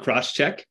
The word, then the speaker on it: Crosschq: at a company called crosscheck c-r-o-s-schq gets its pronounced cross check can you tell us